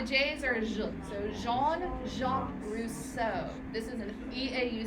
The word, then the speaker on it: Rousseau: the G the J's or so Jean Jacques Rousseau this is an Eau says o Jean Jacques Russo so he wrote romantic novels which is kind